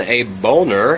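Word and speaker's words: Boehner: San Francisco house Speaker John a boner and it's spelled b o e h n e r he's a republican of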